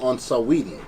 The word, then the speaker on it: Saweetie: We're going to give you some tidbits on Saweetie.